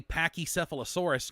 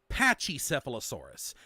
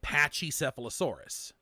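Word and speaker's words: Pachycephalosaurus: have to like change um how I say pachy sealosaurus now and pachy rhinosaurus why have changed it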